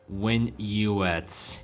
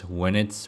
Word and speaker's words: WinUX: So yeah, last but not least, WinUX. Okay. So I'm pretty sure the correct way of pronouncing this is WinUX because, well, it is based off of Linux.